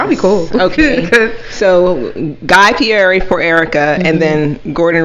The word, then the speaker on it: Guy Fieri: that also i don't want to say his name wrong but guy fieri is that how you say it yes yes